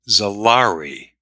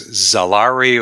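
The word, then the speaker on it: Xaari: tell folks that uh whether it's Zari or salary it's spelled x a a r i so we couldn't possibly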